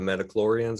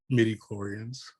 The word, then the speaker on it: midi-chlorians: The Metachlorians or whatever, however you pronounce it? Midi-chlorians.